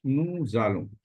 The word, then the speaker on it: nous allons: Here, S is linked, so it is pronounced like nous allons.